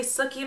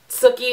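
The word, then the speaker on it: Sookie: and talked about how you can't say suie normally you have to say it like Bill from True Blood and it's so true um anyway compared to suie um it is sukie is still a little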